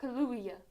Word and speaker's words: Kaluuya: It's not that hard to say. I am not used Just say it like there's two U's. Kaluuya. to Kaluuya.